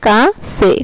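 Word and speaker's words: Kasse: আচ্ছা, তারপর হচ্ছে যদি কোনো ওয়ার্ডে ডাবল এস থাকে, যদি কোনো ওয়ার্ড ডাবল এস থাকে তাহলে এটার উচ্চারণ হবে চয়ের মতো। যেমন কাছে, কাছে, KA ডাবল এস, কাছে।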